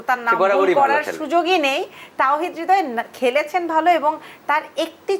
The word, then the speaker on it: তাওহীদ হৃদয়: আমরা বারবার যাকে নিয়ে কথা বলছি আমাদের আজকে তৌহিদ হৃদয় যিনি সবার হৃদয় জয় করেছেন তৌহিদ হৃদয় কিন্তু জেসি আমার নাম তাওহীদ হৃদয় ও আচ্ছা ও আচ্ছা দক্ষিণ দক্ষিতা আমার এখানে